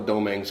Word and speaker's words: Domingue: Dominguez, or Domingue, or Domingue, it's all referencing to the same name. But in the islands, it's actually pronounced, it would have been pronounced Domingue.